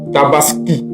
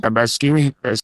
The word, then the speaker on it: Tabaski: Alors chers frères la deuxème remarque qu'on fait c'est que Alassan Watra n'arrive pas à prononcer Tabaski Tabaski Tabaski non il ditaskini Tabaskini Alass dit Tabaskini comme si c'était I